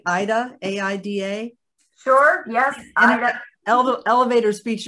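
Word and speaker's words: AIDA: helpful for preachers so so carrie am i pronouncing it right ida a-i-d-a sure yes elevator speech of what ida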